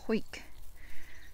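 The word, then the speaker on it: Hawick: Hoik is a town in the Scottish Borders, by the way. I know it's spelt Harwick, but it's pronounced Hoik.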